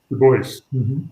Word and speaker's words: Dubois: is on the uh dubois actually right the boys boys so sorry for the